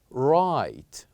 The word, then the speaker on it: right: the same letter is right right say after me right so here is also the word right we only pronounce three letters r i and T right and we kept G and H silent right as when we